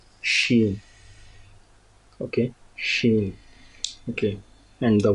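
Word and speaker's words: شین: So this sheen, the sound of this sheen is similar to this shine.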